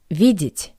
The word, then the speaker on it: видеть: Next verb, to see, видеть. Since the vowel «е» is unstressed, I pronounce it as «и». Видеть.